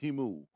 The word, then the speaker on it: Temu: And that's Temu, Temu. It's pronounced Temu.